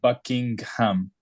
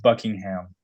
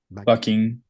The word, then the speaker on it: Buckingham: second one you said Buckingham like you pronounced the G so we don't pronounce the G it's just Buckingham Buckingham Buckingham the second one